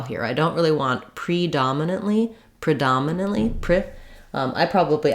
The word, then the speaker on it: predominantly: on the first syllable to start where the stress lies and then add back the syllables before the stress syllable then for our next